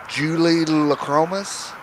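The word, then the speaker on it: Julidochromis: But they are the I think they're pronounced Julie Lacromas cichlids.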